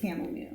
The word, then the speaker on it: chamomile: the charm the car a lot of people Mis mispronounce that but it's camomile I'm sure someone somewhere says sham did you speak on